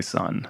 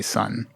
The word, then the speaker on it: Sunn O))): I've heard Greg say son yeah I've heard both members of the band say son but there's an o in the name so what are you gonna do yeah the O is silent the street well there's